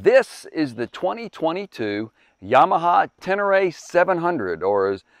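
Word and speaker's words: Ténéré: is the 2022 yamaha tenere 700 or as as they pronounce it in the touareg language bedouin tribe in africa tenere i had to find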